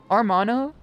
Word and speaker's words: hermano: The H is silent. Hermano. Armano.